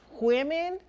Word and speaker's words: women: And I was woman. Apparently it's like women, not woman.